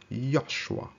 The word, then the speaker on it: Joshua: Joshua was supposed to be pronounced as Yoshua.